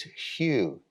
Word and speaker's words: Hu: General Mantra sacred name is Hue spelled h-u and we can just chart that huge or h u we can chart